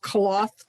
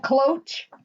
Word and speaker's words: cloche: Did anybody order the cloth dies, the bell ones that go over the dome? Not me. You mean the cloche dies? Oh, yes. Is that how you say it?